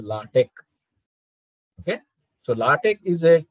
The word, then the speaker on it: LaTeX: is the spelling is l a t e x people call this latex no that is a wrong pronunciation it is called as latek okay so latch is